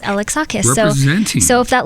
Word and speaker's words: Alexakis: to let you know it's pronounced alex acha so much so if